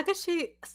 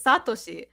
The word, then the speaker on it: Satoshi: ah ash ketchum in japanese it's like how takashi no he's satoshi satoshi and then brock is takishi and i